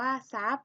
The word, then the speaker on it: ทรัพย์: หลัง เป็น รอ เรือ ให้ ออก เสียง ทร เป็น ส โซ่ นะ คะ ตัว อย่าง คำ นะ คะ เช่น คำ ว่า ซาย อ่าน ว่า ทราย ซับ อ่าน ว่า ทรัพย์ ทราบ อ่าน ว่า ทราบ